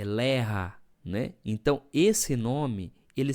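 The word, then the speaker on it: לאה: Tanto é, irmãos, que o nome Leia, né, no hebraico que que eu informei no começo do do encontro bíblico, que se pronuncia Lerra, né, a o o nome Lea, né, é Lerra, né?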